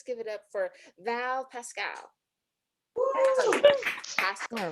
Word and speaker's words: Paschall: second time, but you everybody wants to make my name rhyme with itself. It's fine. And you know what? Close enough. People have been getting my name wrong for a long time too, and it's Paschall, which you think would